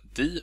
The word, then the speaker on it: de: Adam heter jag, och den här filmen kommer handla om orden di och dom, eller de och dem om ni föredrar det uttalet.